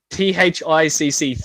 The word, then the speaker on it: THICC: They're calling it THICC. THICC, thick, like ooh, sexy, she's thick, So guys are calling it Thick Boy.